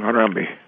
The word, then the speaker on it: Harambe: Well, I just call him Harambe.